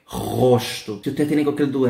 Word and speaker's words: rosto: Depois temos o rosto, ok? Lembrem o seguinte, la primera R, gente, suena desde la garganta, no como no es vibrando la punta de la lengua, ¿ok? Rosto.